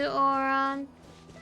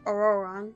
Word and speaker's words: Ororon: going to go to oron or ororon sorry not oron that's not how you pronounce it but first I'm going